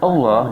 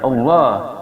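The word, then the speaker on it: الله: Baina akhawaikum wattaqullah, lafaz Allah dibaca tebal, hukumnya adalah tafhim, dikarenakan lafaz Allah sebelumnya ada dhammah.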